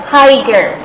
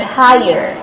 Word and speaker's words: higher: Do not pronounce this as higer, okay, higer, because some of you in your practice assignment, you still pronounce this word as higer, higer. So this is not higer, but higher, okay, higher.